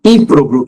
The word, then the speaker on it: ímprobo: E ímprobo, que é improvável. Ímprobo, proparoxítono.